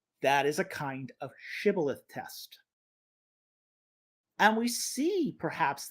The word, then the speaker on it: Shibboleth: Quote, if he said no, they would say to him, Say now, Shibboleth. But he said Sibboleth, for he could not pronounce it correctly.